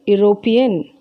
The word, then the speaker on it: European: Though you have E here, we pronounce it as European. A European.